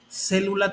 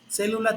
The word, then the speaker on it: célula: Célula también. Célula tiene acento en la antepenúltima vocal o antepenúltima sílaba, que en este caso es la E.